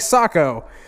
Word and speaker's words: Saco: If you don't know how to say it, it's like Saco. Like he fucking thing you wear on your foot and oh.